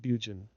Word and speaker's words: Burgoyne: Nutting had a famous foxhound named Burgoyne, he pronounced it Bugen, which my informant used to borrow.